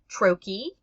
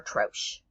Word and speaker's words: troche: So there's 2 proper pronunciations, troche or troche. Both are correct.